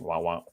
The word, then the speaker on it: Wawa: Wah, wah, wah, wah. Yeah. Wow. Kind of like let's start it here. The proper pronunciation is, let's say I'm going to Wawa anymore.